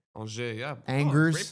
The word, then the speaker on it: Angers: Angers, yeah. Angers. Great pronunciation.